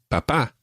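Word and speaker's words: papá: say mama mama and papa papa now just one other thing we mentioned accents already mama and papa both have accents on the last syllable normally spanish words are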